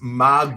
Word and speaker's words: Magus: Is that what you want to hear, Magnus or Magus, whatever you need? It's pronounced Magus.